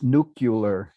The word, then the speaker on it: nuclear: to be honest almost every president uh since Eisenhower says nucular instead of nuclear and that moves it